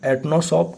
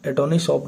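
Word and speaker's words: Atanasoff: इसके आविष्कारक जॉन एनोसॉफ ठीक है? एटोनीशॉप नहीं एनोसॉफ मान लो और ईबेरी इन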